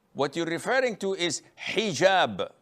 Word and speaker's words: hijab: you're referring to is hijab with an h and I know in France they don't pronounce the h when it is in the beginning of the word as in hotel or